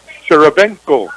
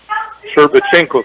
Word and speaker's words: Sherbachenko: Oh, Nikolai Sharabenko. There we go. I had to ask how to pronounce that. Sherbachenko. That's what it was.